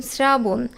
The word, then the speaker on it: শ্রাবণ: কাজেই এখানেও দন্তস থাকবে আবার তালব্যস এর সাথে যখন র ফলা থাকবে তখনও কিন্তু সেটা দন্তস এর উচ্চারণ হয় যেমন শ্রাবণ শ্রাবণে তালব্যস এর সাথে র ফলা এখানে যদি স এর উচ্চারণ হতো তাহলে কিন্তু উচ্চারণ হতো শ্রাবণ সেটা কিন্তু আমরা উচ্চারণ করি না উচ্চারণ হচ্ছে শ্রাবণ অর্থাৎ দন্তস এর সাথে